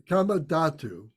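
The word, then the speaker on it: kāmadhātu: so comma comma k-a-m-a comma dot true the kamadatu is the desire sphere Kama datu so this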